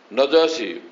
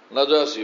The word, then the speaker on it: নাজাসী: হাবাসার দিকে হিজরত করবেন নাজাসী লোকেরা কেউ নাজ্জা বলে এটা সঠিক উচ্চারণ নাজাসী বাদশা নাজাম হিজরত করে ওখানে